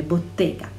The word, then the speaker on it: Bottega: valentino bottega veneta bottega e con 2t e bisogna pronunciarle bottega moschino sh i park